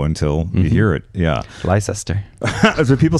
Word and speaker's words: Leicester: times, enough that I would go, oh, that's Leicester Square, right? Yeah. Yeah, okay. I was so hoping I didn't screw that one up. It's actually pronounced Leicester.